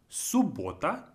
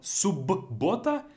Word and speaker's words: суббота: Then we have пятница, пятница, пятница, суббота, суббота. Even though we have double B, суббота, we pronounce it as just simply as if it's one B.